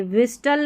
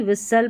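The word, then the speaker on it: whistle: विस्टल नहीं विसल पढ़ेंगे, लिस्टन नहीं लिसन, विस्टल नहीं, यहाँ पर इसको विसल करके पढ़ना है, ठीक है.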